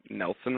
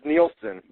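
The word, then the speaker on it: Nielsen: research and information from Nelson ratings Nelson media research right right or neelon I for I never know how to say it is it neelen or Nelson it's neelson but I gonna let I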